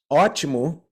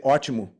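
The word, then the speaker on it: ótimo: good word for example archimu has an o with an accent it's a forward slash accent above the O right um t-i-m-o so you have two o's there one has an accent to make it ah okay the other one doesn't have an accent so we say archimu it becomes a u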